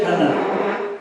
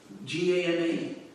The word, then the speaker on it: gana: In Sanskrit, there is a long A and a short A. A. The vowels A, E, U, A, I, O, Aha. So it's not, there's no A like in English A.